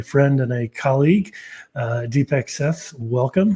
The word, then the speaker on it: Seth: So I'm Deepak Seth, and interestingly, the last name is pronounced Seth, and it rhymes with innovate because it's an Indian name.